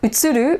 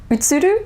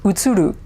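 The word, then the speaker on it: 映る: utsuru to reflect um so utsuru would be the japanese way of pronouncing it would be utsuru would be the american english way of pronouncing it utsudu versus utsuru and incidentally i'm trying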